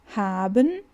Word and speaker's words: haben: Haben the s. Olha que interessante aqui. Então o H ele tem um som forte, não fica aben, né? Fica haben.